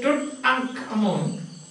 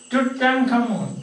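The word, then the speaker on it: Tutankhamun: So when you say Tut ankh Amun, together we say, how do you say that? We say, discovering Tut, that is the short form. Then together we say Tut ankh Amun.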